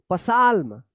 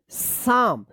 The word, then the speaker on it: psalm: PSALM, क्या पढ़ेंगे इसको, पसाल्म, पसाल्म गलत हो जाएगा, इसको पढ़ेंगे साम। अब यहाँ पे जो है ना एल साइलेंट है और यहाँ पे P साइलेंट है।